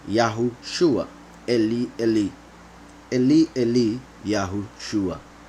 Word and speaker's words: Yahushua: There are some people who even pronounce Yahusha. However, there's enough proof in scriptures to show that the name of the Messiah is Yahushua, not Yahusha.